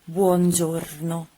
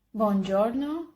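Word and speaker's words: buongiorno: doesn't exist in Italian you don't alter the sound of the vowel and you have to pronounce it in the same way in which is written so if it is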